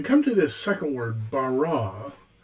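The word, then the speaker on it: בָּרָא: It's pronounced bara, it means he created, not she created or they created, he created.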